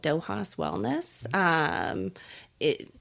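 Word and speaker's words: Dóchas: It's called Dohas Wellness. Um, it Dohas, I'm going to spell it out because most people uh can't pronounce it.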